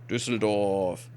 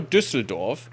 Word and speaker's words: Düsseldorf: bonus, and then go to Zoringen and no, Düsseldorf and siege that. Düsseldorf. See, there's no English name for Düsseldorf, and sometimes native English speakers can actually say that. I don't know. I mean, they usually say Düsseldorf because they can't pronounce the Ü, but still.